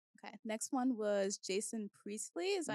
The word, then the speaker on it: Priestley: Next one was Jason Priestley. Is that how you pronounce his last name?